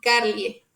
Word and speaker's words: carliae: En este caso, la AE se va a pronunciar como E. Entonces va a ser Balbine y Carlie.